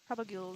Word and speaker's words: propagules: However you pronounce that word. Propagules.